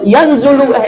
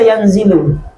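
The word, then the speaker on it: يَنْزِلُ: Makanya kalau ada ustaz baca yanzulu, salah ustaz. Salah ki. Kenapa? Itu nazala wazannya fa'ala yaf'ilu. Harus dibaca yanzilu.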